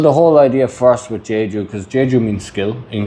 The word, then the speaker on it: Jaeju: Well, the whole idea first with Jaeju, because Jaeju means skill in Korean, like it's like A-E instead of I-E. Like you have Jeju Island, but then you have Jaeju, it's spelled different, same pronunciation.